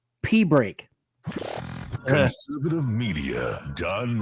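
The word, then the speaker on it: Pibroch: O C H and people thought it was Pibro that it was it was to be pronounced Pibro, but it wasn't to be pronounced Pibro.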